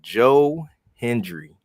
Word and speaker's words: Joe Hendry: from the crowd, man, Joe Hendry, am I I don't know if I'm pronouncing that right. No, you got it right.